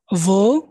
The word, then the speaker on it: wo: প্রথমটা ভাস, ওয়াস, was, ভান, ওয়ান, ভেয়া, wer, ভি, wie, wie, warum, warum, wo, wo, woher, woher, der, wohin। wohin, wohin, এই যে ডব্লিউটাকে আমরা ভি উচ্চারণ করতেছি, সবসময় ভি উচ্চারণ করবেন।